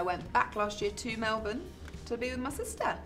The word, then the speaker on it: Melbourne: Where is she right now? Melbourne. Oh, and you said it wrong. Melbourne.